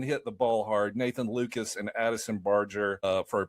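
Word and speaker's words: Lukes: And Nathan Lucas, it's spelled Luke's Lu Kes. But I confirmed with the Toronto Blue Jay spelling or pronunciation guide, he pronounces it Lucas.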